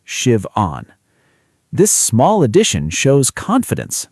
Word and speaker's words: Siobhan: I'm Siobhan. It's pronounced shivon.